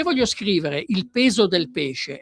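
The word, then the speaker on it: pès: Se voglio scrivere il peso del pesce e il peso del pes, devo scrivere PES per dire il peso. PES, la E con l'accento grave, che vuol dire la E aperta, è 2S.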